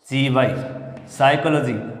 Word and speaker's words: psychology: PSYCHOLOGY, साइकोलॉजी। अब इसमें P word शुरुआत में आ रहा है, ये कोई साइकोलॉजी नहीं है लेकिन क्या है? साइकोलॉजी। ये P वर्ड इसमें क्या हो जाता है? साइलेंट।